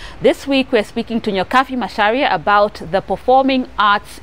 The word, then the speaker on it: Nyokabi: It's Nyokabi, not Nyokabi. Nyokabi, spelled with a B, pronounced as an F.